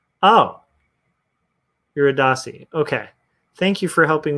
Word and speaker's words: Eurydice: Okay, Mama Soto, what is Orpheus and Eurydice?